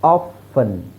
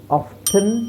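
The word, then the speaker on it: often: ಒಂದು okay now ಆಫನ್ ಆಫನ್ ಇಲ್ಲಿ T silent ಮಾಡಬೇಕು ಅಂತಿಲ್ಲ ಆಫನ್ನ ಎರಡು ತರ ಹೇಳ್ತಾರೆ ಒಂದು ಟಿ ಸೈಲೆಂಟ್ ಮಾಡಿ ಹೇಳ್ತಾರೆ ಟಿ ಸೈಲೆಂಟ್ ಇಲ್ಲದೇನೆನು ಹೇಳ್ತಾರೆ ಆಫನ್ ಅಂತ ಹೇಳಬಹುದು ಆಫ್ಟನ್ ಅಂತನು ಹೇಳಬಹುದು ಸೊ ಸೈಲೆಂಟ್ ಮಾಡಿ ಹೇಳೋದೆ ಉತ್ತಮ ಯಾಕೆ ಒಂದು ಎಕ್ಸ್ಟ್ರಾ ಅಕ್ಷರನ ಯಾಕೆ ಹೇಳಬೇಕು ನಾವು ಆಪ್ಷನ್ ಅನ್ನೋದಕ್ಕಿಂತ ಆಫನ್ is better next tsunami ಸುನಾಮಿಯಲ್ಲಿಟಿ silent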